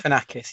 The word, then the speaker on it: Galifianakis: With Zach Galifianakis, have I pronounced that right? Galifianakis, yeah.